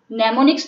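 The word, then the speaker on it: mnemonics: नेमोनिक्स जो होते हैं, इसमें एम जो है वो साइलेंट है.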